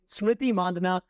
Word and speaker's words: Smriti Mandhana: the field that would be my guest today SMY Mandana captain of the royal Challengers Bangalore welcome to